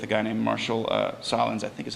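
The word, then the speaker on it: Sahlins: an interview with a guy named Marshall uh Solin I think is how you pronounce this name I've never actually heard it out loud but he's at University of Chicago um very celebrated anth Anthropologist who is Solin okay good thanks um and uh he's a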